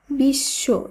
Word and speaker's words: বিশ্ব: বর্ণের উচ্চারণ দীপ্ত হবে যেমন বিশ্ব শব্দটির উচ্চারণ হবে বিশ্ব এখানে বফলা যুক্ত আছে কিন্তু বফলা থাকলেও বফলা যেহেতু তালবস এর সঙ্গে যুক্ত রয়েছে তাই এখানে এই তালবস এর উচ্চারণ দীপ্ত হবে বা দুইবার হবে একইভাবে বিশ্বাস এর শুদ্ধ